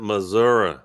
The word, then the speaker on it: Missouri: You got to pronounce it Missouri.